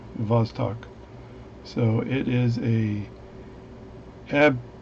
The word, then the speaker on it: Vostok: says that it is the amphibian it's a bostock b-o-s-t-o-k and other folks online and tell me that in russian v and b are pronounced uh the same so b is pronounced v the vostok so it is a ab dorian good dude